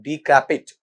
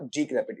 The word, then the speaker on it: decrepit: अपन पढ़ना चाहें तो इसे कहा जाता है डिक्रैपिट। बेटा क्या कहा जाता है इसे आपका वहां पर? डिक्रैपिट। एक बार उच्चारण कर देना, डिक्रैपिट।